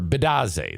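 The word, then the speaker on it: Bitadze: Maybe no, actually, it's Bitaze or Bidaze. That's how you say it.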